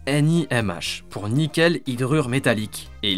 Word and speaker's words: NiMH: Alors la NIM se prononce NIMH pour nickel hydrure métallique et l'hypo veut dire lithium polymère.